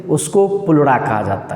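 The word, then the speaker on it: pleura: पुलुरा लिखते हैं पिल्यूरा पिल्यूरा पढ़ा ई साइलेंट हो जाता है पुलुरा।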